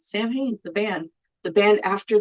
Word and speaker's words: Samhain: going to talk about Sam Han also known as Sam lean Sam you know but we're going to pronounce the way L says it Sam hayy the Band The Band